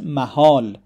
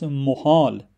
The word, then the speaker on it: محال: And it is possible to pronounce this word in two ways. The first one is Mahal, and this is a plural form of a noun Mahal, which means place. So, mahal means places. It is also possible to pronounce this word as muhal, starting with mo. And if muhal, it would be impossible.